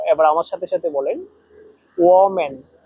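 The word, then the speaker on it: 我们: এখানে দেখেন ও চাইনিজের তিন নাম্বার টন ব্যবহার করা আছে।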